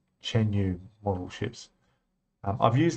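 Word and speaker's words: Chuan Yu: of the deck is, I think you pronounce it Chen Yu. c h u a n y u Chen Yu Model Ships.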